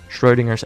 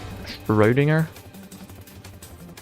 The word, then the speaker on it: Schrödinger: You actually pronounce the Ö? Yeah. That's because I know German. I've had 2 years of German, and I live very close to Germany. So I know how to pronounce German names and words.